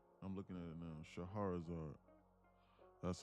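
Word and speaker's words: Scheherazade: Shaharazar. That's how it's spelled.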